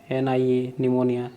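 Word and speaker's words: pneumonia: ऐसे लिख दोगे NIMONIA, निमोनिया लिखते हैं बच्चे, गलत होता है। तो यहाँ पे क्या करना है आपको, सिंपली नी का स्पेलिंग है PN, इसको ध्यान रखना है, EU, PNEU, निमोनिया, ठीक है, निमोनिया।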